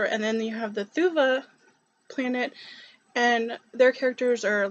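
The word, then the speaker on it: Thuvhe: Thuva and Shautet is how she pronounced them, I believe.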